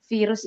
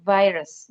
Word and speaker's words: virus: getting or spreading the virus. Okay, very good. You have to make it sounds like a native ya. Kayak virus itu kan Indonesianya. Nah, kita pelafalannya virus.